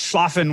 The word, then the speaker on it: Schlafen: is this yeah so so it's pronounced schlafen which I I don't speak German but I'm totally German for for Sleep um and so it